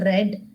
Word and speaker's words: read: is read but here I'm pronouncing it as red because it is in past tense yesterday is there okay